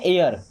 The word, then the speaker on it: air: अगर आर है तो फिर ये वाला उच्चारण, जैसे HAIR, या सिंपल आप समझिए AIR। इसे हम क्या पढ़ते हैं एयर। क्या पढ़ते हैं एयर।